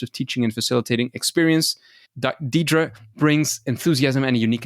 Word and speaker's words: Diedre: So, Diedre, no, I got it wrong. I know I got it wrong. Are you prepared to engage? And please correct me on the right pronunciation. It's Diedre. So very close.